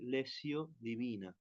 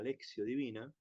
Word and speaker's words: lectio divina: oración y como contemplación se escribe lectio divina y se dice leio divina la leio divina la lexio divina es leerla en forma